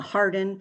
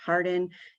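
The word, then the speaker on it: Harding: counties debaca guadalupe uh i'm going to say it wrong the harden thank you oh my gosh hardin union and colfax so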